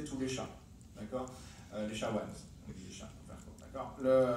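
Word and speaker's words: SHA-1: Les chawans. On dit les chats. D'accord? Ça se prononce chawan, pas SHA.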